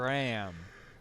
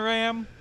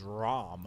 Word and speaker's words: Ram: and then there's the two maids Bren and RAM here we go you talk about you want to talk about RAM and RAM I've heard some people first time people pronounce her name is ROM ROM no in the dub it's RAM they